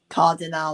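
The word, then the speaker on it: Cardinale: Cardinol. I can't pronounce his last name. Cardinal. That's it.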